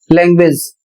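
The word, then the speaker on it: language: इसमें यू पढ़ा जा रहा है और यू का उच्चारण हो रहा है व लैंग्वेज।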